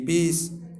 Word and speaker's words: piece: ये बहुत सारे वर्ड्स लिखे हुए हैं, इसमें देखिए जैसे है PIECE, पीस, तो इसमें सभी का स उच्चारण आ रहा है क्योंकि इसके बाद ई आई वाई में से कोई एक है।